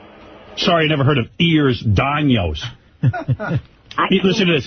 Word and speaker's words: Ehlers-Danlos: It's Ehlers-Danlos. Ehlers-Danlos. Then why do you spell it with an I?